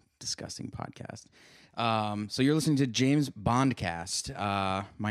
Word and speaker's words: James Bondcast: The show that you're listening to is called James Podcast. Yeah, did I say it right? Said James Bondcast.